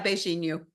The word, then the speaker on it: beijinho: So she made pineapple shortbread, mango crinkle cookie, and then the coconut beijinho. Is that how you pronounce it? Yeah, beijinho.